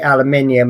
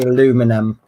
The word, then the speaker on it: aluminium: someone said no no british people say aluminium and americans say aluminum yep so yeah we